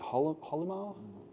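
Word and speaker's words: Hylomar: So is it Holomar? Yeah, that's how you pronounce it, yeah.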